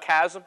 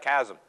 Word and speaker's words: chasm: word golf you got Chasm how many have Chasm c-h-a-s-m it's you spell it like a k sound it's not a Chasm it's a Chasm it's an abyss it's